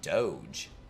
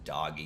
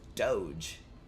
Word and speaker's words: Doge: is that not pronounceable it's literally Doge like Dogecoin I know what Dogecoin is